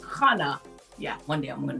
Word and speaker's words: Khannah: But the website is Khannah, Khannah, pronounced Khannah.